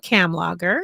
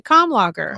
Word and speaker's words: Kamlager: I pronounce it cam logger. Okay. Cam like camel logger like beer. Okay. And what's your dad? How's your dad pronounce it? My dad pronounces a cam logger.